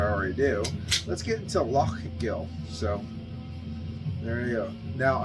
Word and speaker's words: Lough Gill: do let's get into lock Gill so there we go now I I a Scottish person told me how to pronounce lufkill by luck Gill but that's oh that's